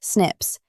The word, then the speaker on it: SNP: It specifically focused on something called single nucleotide polymorphisms, or SNPs, pronounced "snips," which are small genetic variations.